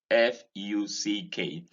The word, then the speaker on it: fuck: That is pronounced fuck. This is fork. This is rounded, while that one, F-U-C-K, is unrounded.